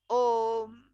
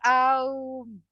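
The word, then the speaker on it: ओम्: So a plus u becomes om, om. This is what the whole thing is. And even though there is akara, ukara, and makara, it should not be pronounced as aum.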